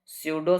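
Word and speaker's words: pseudo: English में बोलते हैं सडो सॉलिड पी जो है वो साइलेंट रहता है सडो सॉलिड सडो सॉलिड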